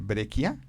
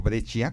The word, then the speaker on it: Breccia: Ellos hacen un estilo muy gótico que por ahí yo también recomendaría a Breccia, o Breccia, como se pronuncia, que es un autor argentino, que fue el primero que adaptó a Lovecraft hace 40 años.